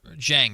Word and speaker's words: Dieng: Dieng is technically how you pronounce it, I'm pretty sure.